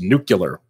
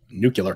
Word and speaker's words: nuclear: I'm sorry nuclear plants because it's pronounced new killer new killer it's pronounced nuclear who don't know dinosaur